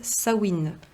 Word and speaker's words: Samhain: qui à la base s'appelle sawin qui s'écrit S a M de maman sawin c'est une fête celte